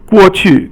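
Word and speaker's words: 过去: 过 is fourth tone, and 去 is 轻声.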